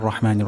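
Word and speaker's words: الرحمن: রহ হবে না রহ রহ এটা উচ্চারণের স্থান হলকের মাঝখান রহমা নির্ হবে না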